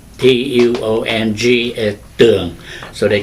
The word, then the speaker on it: Tường: My name is Tuong in Vietnamese. But here, people butcher my name. They cannot pronounce T-U-O-N-G as Tuong.